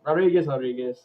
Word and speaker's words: Rodriguez: You know, Mackenzie Dern's number 4, and Marina Rodriguez, since Brazil it pronounced RH as I said it. Rodriguez.